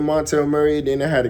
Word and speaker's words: Montel: for some reason like people can't pronounce Montel they be like Montrail or motel or whatever so I'm like bro